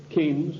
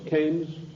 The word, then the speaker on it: Keynes: they sent John Maynard Keynes or Keynes he said Keynes was a better word because it arrived with it rhymes with brains and this is a